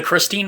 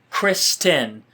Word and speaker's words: Christine: I am on the Christine Michael watch. I'm going to, and actually, I think it's Kristen. You know, it's spelled Christine.